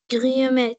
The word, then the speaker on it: Guillemette: Guillemette. Comme les guillemets, hein? Comme les guillemets, elle est Madame Guillemette.